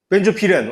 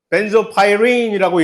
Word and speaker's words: 벤조피렌: 벤조피렌. 제대로 읽었네. 벤조파이린이라고 읽는데 한국말로는 이것을 벤조피렌이라고 읽지.